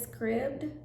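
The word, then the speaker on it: Scribd: and uh i learned this app is scribbed i think that's how you pronounce it s-c-r-i-b-d and um it's been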